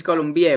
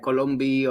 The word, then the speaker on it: Columbie: that's perfectly fine so my last name is columbia but that's a little hard to pronounce here in in the in the states so everyone here says like colombia or colombia or some type of combination there so no issue so